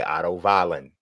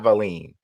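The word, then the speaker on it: Otto Wallin: I just asked why Otto Valen. Right. He because it's not Valine, which was funny because,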